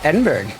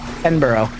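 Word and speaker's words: Edinburgh: other side of bridge from Edinburg nice Edinboro I um I know I mispronounced it cuz I was reading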